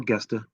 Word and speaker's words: Gesta: Mercito Hesta, also on the card, or Gesta, if you want to pronounce the G.